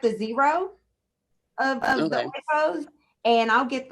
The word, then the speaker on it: Oikos: Is it Oikos?